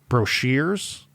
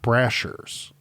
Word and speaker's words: Brashers: Also, his last name is apparently pronounced Brashers and not Brashers.